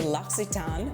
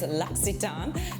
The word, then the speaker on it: L'Occitane: And this is the L'Occitane, which yes, I did find out how to pronounce it, and it's L'Occitane, not L'Occitane, L'Occitane, and it is their shower oil.